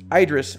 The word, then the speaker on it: Idris: I know it's an American pronunciation versus a British or European pronunciation. But for us, saying Idris is a lot more natural than Idris.